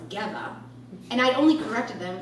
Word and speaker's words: Geva: he called my name Jeeva sure my last name is pronounced Gemma and I only corrected